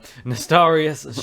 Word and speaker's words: Nostalrius: I remembered how to say it because the realm was named after nostalgia. So Nostalrius shutdown, and they have invited the devs to their headquarters.